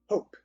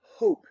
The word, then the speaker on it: hope: such right we have hope now without this e here it's just hop well we have that silent e it becomes hope because it's now a long o a long o and